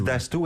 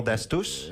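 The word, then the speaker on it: Dastous: On dit Dastou et non Dastus? Non, c'est on prononce pas le S?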